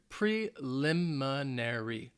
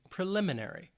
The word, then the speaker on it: preliminary: it's a longer word it has five syllables preliminary preliminary preliminary the stresses on that second syllable but it's not that it's not a very strong emphasis preliminary and this is